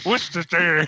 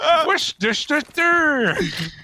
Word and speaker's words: Worcestershire: I don't even want to try and pronounce what you just said. Worcestershire. That's what the South Park guys. Worcestershire.